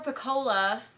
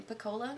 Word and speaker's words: Pecola: interesting and I appreciate the fact that poor Pecola that's how I say her name piccola that's okay the people who had a hand